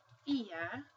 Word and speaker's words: geografía: So if you have the word geografía, okay, you will see that this G sounds like an H, and this G sounds more like what we would associate with a typical G sound, a G sound.